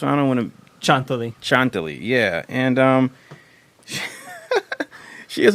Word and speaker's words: Chanthaly: behind uh dearest sister and how do you pronounce the first one I don't want chant Chantell yeah and um she is a very she